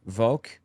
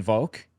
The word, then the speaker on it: Volk: The word Volk, V-O-L-K, pronounced folk, I believe, similar to our word folk, just people, except it had more mystical connotations to it.